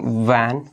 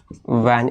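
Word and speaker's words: when: जैसे वैन इसको बहुत लोग वेन बोल देते हैं। रॉन्ग वैन वैन इसको बोलते हैं वैन।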